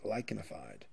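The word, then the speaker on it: lichenified: And that is termed lychenifide. The ch here is pronounced like a k lychenifide.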